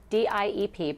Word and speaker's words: DIEP: It's spelled DIEP, pronounced DIEP reconstruction.